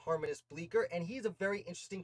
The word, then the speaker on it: Harmanus Bleecker: harmonist bleaker i think his name is pronounced harmonist bleaker and he's a very